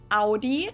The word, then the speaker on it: Audi: first one is Audi most Americans that I know pronounce it like I just said it Audi in German we say Audi Audi and there's actually a